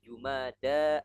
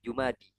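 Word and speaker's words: جمادى: Bulan kelima ini Jumada alula. Jumada alula. ya, Jumada alula. Nah, ini menarik ya. Yang benar itu jumada bukan jumadi ya.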